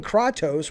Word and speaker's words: Kratos: listen to this wow he's saying kratos which is how they say it uh in uh spain portugal and then he's saying